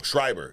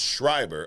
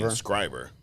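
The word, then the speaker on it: Schreiber: known to mispronounce name some guy was correcting me last week like it's Liv scriber scriber I don't I probably still saying it wrong shriber it's shriber I was say scriber so but do you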